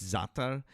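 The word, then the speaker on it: za'atar: Um, it's zatar, but um, it's z if if you were going to phonetically spell it out.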